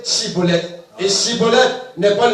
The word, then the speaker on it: Schibboleth: Vous voyez, et l'imitation, c'est la prononciation Cibolette et non pas l'originalité Chibolette.